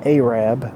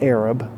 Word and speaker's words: Arab: on Eddie Scant City Road, just outside of Arab, Alabama. Yes, that is the pronunciation, Arab, not Arab.